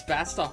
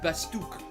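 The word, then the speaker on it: Bastok: me wrong yeah everyone gets bastock wrong too it's not bastock it's basuk the Republic of basuk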